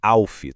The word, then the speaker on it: ALF: E a pronúncia é Alfi, tá?